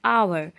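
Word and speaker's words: hour: जाए this is blank आवर आवर तो वैसे ए एच से स्टार्ट हुआ लेकिन ज हम इसे प्रोनंसिएशन करते हैं तो एच क्या होता है एच साइलेंट लेटर होता है जिसमें एच का उच्चारण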